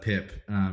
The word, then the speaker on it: Pip: Shout out to Pip, who I called Peep because it's spelled Peep. And he corrected me real quick.